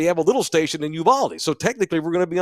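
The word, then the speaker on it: Uvalde: a little station in Uvaldi so technically we're gonna be on Uval Uvaldi is how you say it on that station and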